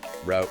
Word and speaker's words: route: The examples given were pairs like creek sometimes pronounced as creek coyote with two syllables versus coyote with three route rhyming without versus root rhyming with boot.